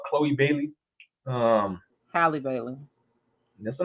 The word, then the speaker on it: Halle Bailey: Halle Bailey. That's her name. That's how you pronounce it.